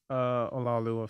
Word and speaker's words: Olaoluwa: Olaoluwa.